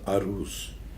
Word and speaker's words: aruz: have another system of the poetical metric called aruz. A-R-U-Z, aruz. And aruz is you have prototype of the syllables, long and short syllables.